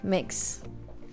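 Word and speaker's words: Mx: but gender-neutral oh okay okay you okay okay right okay right so you you pronounce it like M Ickx okay mix I'll take that see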